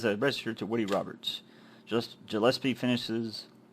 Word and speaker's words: Gillespie: Looking over the scene in this rundown area of Lytton, you see Officer Mario Gillespie, or Gillespie, or Gillespie. I've been pronouncing it wrong. Gillespie, and a car with its trunk open.